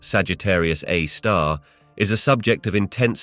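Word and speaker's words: Sagittarius A*: the Milky Way known as Sagittarius A asterisk pronounced Sagittarius A star is a subject of intense study and Fascination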